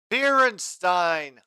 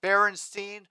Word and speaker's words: Beerenstein: An official second goal for Beerenstein. I was so tempted to pronounce that Berenstein for the joke, but it's spelled Beerenstein.